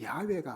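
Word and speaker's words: Yahweh: 근데 이게 번역하면 뭐냐 여호와 우리가 여호와 하나님 하잖아요 근데 사실 정확한 발음은 야외가 아닌가 보통 신학자들은 이야기해요 그리고 이스라엘 백성이 출애굽하여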